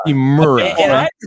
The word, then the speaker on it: Hachimura: We're getting a career from Bertans and Ryu Hamichur. I don't even know how to say his name. Rio Hachimura. Hachimura.